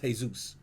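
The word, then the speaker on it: Jesús: So it's not pronounced Jesus. It's pronounced Jesus.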